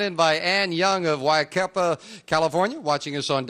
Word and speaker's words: Yucaipa: And the opening poem sent in by Ann Young of Yucaipa, California, watching us on... Am I pronouncing that right? Yucaipa. Pardon me, Yucaipa. Ann Young of Yucaipa, California, watching us on KNBC.